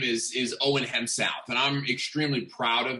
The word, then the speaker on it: Hemsath: name is is owen hem south and i'm extremely proud of that name so it's hemsaf uh and it's pronounced exactly the way that it's spelled but you know it's